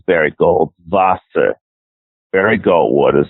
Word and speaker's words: Barry Goldwater: we have to because we're saying his name wrong his name is Barry Goldwater there we go what